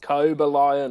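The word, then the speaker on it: Cobalion: he plays the team he's actually pronounced cobra lion apparently but yeah i think cobalian sounds cool yeah if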